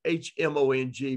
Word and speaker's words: Hmong: It's spelled H-M-O-N-G, pronounced Hmong. The H is silent.